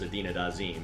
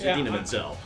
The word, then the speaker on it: Idina Menzel: He's not going to pull a John Travolta and refer to her as Idina Dazim. It's Idina Menzel.